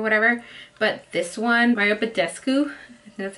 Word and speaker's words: Badescu: I use the MAC Fix Plus when I apply makeup or whatever, but this one, Mario Badescu, that's how you say it, facial sprays work really good.